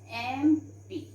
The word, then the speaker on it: MP: Okay, so here we write an MP, because children, though it is starting with consonant letter, but the sound we are having here is vowel sound, so we put an MP.